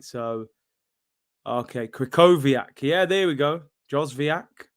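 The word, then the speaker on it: Krychowiak: names man uh ermey i said you have to spell w as v my g all right so okay krykoviak yeah there we go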